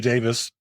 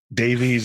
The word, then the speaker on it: Davies: I mean, and Ray Davis of the Kinks. Right. That's actually how you pronounce it, but Davies is what we call him here.